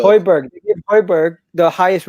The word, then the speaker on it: Højbjerg: Hoiberg. Højbjerg.